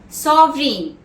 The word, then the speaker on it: sovereign: Next word, sovereign, S-O-V-E-R-E-I-G-N.